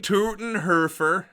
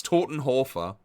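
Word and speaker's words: Todenhöfer: Jurgen Totenhurer. What a guy. First of all, that's not how you say it. It's Totenhofa.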